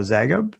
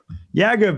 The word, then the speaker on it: Yagub: friend of mine now, Zagub. Am I saying his name right? I'm terrible today at pronouncing people's names. So. Yeah, Yagub. Yagub, that's it.